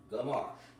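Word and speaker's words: גמר: It's pronounced Ga-mar.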